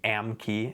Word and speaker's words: AMKE: People will often pronounce these out loud. Like I said, they'll say Modo or maybe Amke, A-M-K-E for American kestrel.